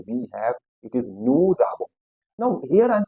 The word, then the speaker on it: nous avons: Whenever the word ends with ons, the pronunciation is on. That's why it becomes nous avons. Again, avons. After avons, there is nothing, so s is silent. That's why nous avons.